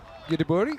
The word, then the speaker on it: Göteborg: And Gothenburg, or Göteborg, how they say it here, they aren't in the